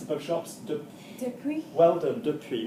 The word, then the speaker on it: depuis: Well done, depuis, not depuis. Ginny's pronouncing it properly. Okay, there's not an accent on the E, so depuis.